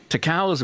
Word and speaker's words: Takao: More than that, Takao's movements during inline skating fascinated him.